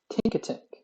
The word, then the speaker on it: Tinkatink: Tinkatink.